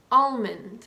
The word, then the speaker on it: almond: calm palm the palm of your hand and almond like the nut the last four have an